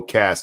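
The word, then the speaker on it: caste: Oh, cast. I'm sorry. That's how you say it. I always say it with the E because it's spelt with the E.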